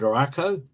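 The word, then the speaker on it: Ruocco: The next architect I want to talk about is Lloyda Rakow, and I've been assured that that is the correct pronunciation. To put Rakow in context, we need to go back to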